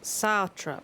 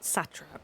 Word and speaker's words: satrap: you will allow okay so it's pronounced sartrap not satrap like i said earlier people of the great